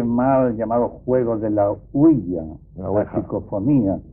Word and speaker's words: Ouija: y sobre todo con la huilla, que es así como se pronuncia. Generalmente se dice ouija, pero la verdad es que oui es sí en francés y así se pronuncia, y ja es ya, que es sí en alemán.